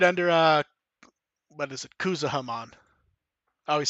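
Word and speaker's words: Kuzuhamon: Like, and right under, what is it, Kuzahamon. I always say that name wrong.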